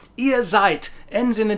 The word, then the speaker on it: seid: So the word zeit, which is a verb, ihr seid, is exactly the same in pronunciation terms as seit gestern.